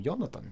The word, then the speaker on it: Jonatan: and J's are are wise in most languages. So, Yong Leon, that's how you'd say his name. Yonathan, that's how you'd say it.